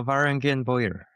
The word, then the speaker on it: Varangian Bowyer: maybe even less and how do you pronounce the name of your your bow making brand uh Varangian boyer Barangian and you know the Bangians were like